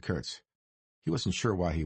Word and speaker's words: Kurtz: Bernard said Curts, putting the emphasis on the second syllable. the way Gdaga had.